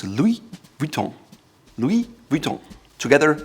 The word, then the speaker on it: Louis Vuitton: It's almost like an umlaut in German on the U, so it's Louis Vuitton.